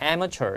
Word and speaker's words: amateur: 우리가 아마추어라는 발음이 영어로는 amateur 이렇게 발음하고 스펠링 이렇게 생겼습니다.